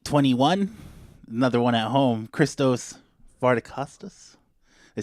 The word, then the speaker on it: Christos Vardacostas: Perry podcast take 21 another one at home christos far to Custis they say right very good I'm practicing like